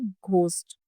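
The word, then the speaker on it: ghost: उसके बाद हम बात करें घोस्ट। घोस्ट में भी यही होता है। यहां पे क्या है? एच है। लेकिन हम क्या हम बोल रहे हैं? घोस्ट।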